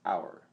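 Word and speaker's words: אור: In Hebrew, the noun for east is Ar, pronounced Our, AVR. And the word for light has the same spelling and practically the same pronunciation.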